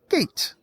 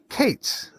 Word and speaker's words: Kaitz: to introduce you to Gate no Kates as says used to be a a salesperson he used to say my name is Gates with a K and I just absolutely